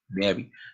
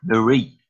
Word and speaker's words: Marie: Sorry, I spoke your name wrong before. Mary. Marie.